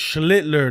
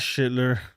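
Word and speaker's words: Schlittler: Oh, it's Schlitler. Not Shitler. Oh, no. You had it right. Schlitler.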